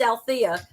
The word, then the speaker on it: Alethea: EA but it's pronounced ala there's that silent E I just think it's